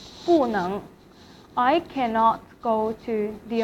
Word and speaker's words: 不能: 我不能去美国美国 means the US, the America 美国 So 能 is in second tone. So 不 will be pronounced as 不 in fourth tone. 不能 I cannot go to the America.